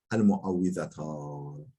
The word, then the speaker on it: المعوذتان: Qâle daha doğrusu qâle vel felaku vel nas yuqalu lehuma el muavvizatan bi kesril vavi. Vav'ın kesresiyle el muavvizatan diye okunuyor.